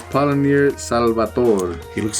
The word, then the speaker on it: Paulaner: I might pronounce it wrong. Paulaner München? München. It's Paulaner.